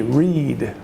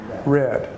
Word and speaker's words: read: Now, she did very well because the present tense of the verb read is pronounced where we emphasize the E, read. The past tense is spelled the same way, but we emphasize the A, the read.